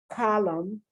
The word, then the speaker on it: column: damn and when you say damn girl autumn column notice i'm not pronouncing the end at all mean this is